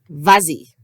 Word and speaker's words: vas-y: Mais si je rajoute un pronom d'objet direct ou indirect, il faut rajouter le S pour la prononciation si le pronom commence avec une voyelle, comme I, et nous avons donc vas-y.